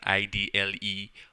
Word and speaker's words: IDLE: what is called an ID le most people just pronounce it as idle only it comes once